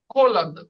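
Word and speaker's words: холодно: আবার আছে খালোদনা আর তেপলো। কালো, খালোদনা তে- আর বা খোলাদনা, তেবলো, এটার উচ্চারণ কি হয়? খোলাদনা, খোলাদনা, খালোদনা, এক একজন এক এক বলেছে, মেন ভালো উচ্চারণ খোলাদনা, খোলাগ্ন, খোলাদনা।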